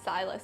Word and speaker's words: Silas: I believe name is spelled SYLAS, right? Silas, yeah.